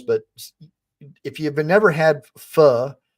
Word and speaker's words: pho: if you've never had pho, but it's spelled Pho, but it's pho, it's Vietnamese soup.